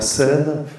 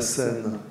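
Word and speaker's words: Senne: autre dimension à Bruxelles le long du canal et d'une rivière qui s'appelle curieusement la scène mais ça s'écrit pas de la même façon ça s'écrit 2 et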